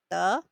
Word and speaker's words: 得: This Chinese word is a 多音字, meaning a word with various pronunciations depending on the usage. It is pronounced as 得, such as 得意 or 得到.